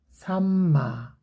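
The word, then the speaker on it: さんま: 보통 예인이나 미용하면 돼요 꽁치가 일본어로 산마거든요 그러면 미음이니까 그냥 삼마 미음 발음하시고 그러면 이음 바르라고 대충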